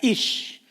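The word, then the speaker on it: איש: Fíjese que el término varón en hebreo ah se se pronuncia ish.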